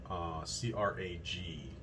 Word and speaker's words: Crag: I don't know if it's Craig or Crag. C-R-A-G is the model. Model number is the J1904. I just thought about that. I think it is probably pronounced Crag. I've been pronouncing it Craig for a while.